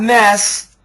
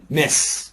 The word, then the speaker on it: miss: And never, it's not mess. Yes. Miss. Miss. Miss. So say this word, Adele. Mess. Mess. Miss. Mess and miss. Perfect pronunciation. Good job.